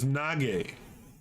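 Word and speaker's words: 那个: Chinese glyphs, which is nage, right? Or naga or something like that, or sometimes pronounced nage in Mandarin, sounding a lot like a racial slur, right?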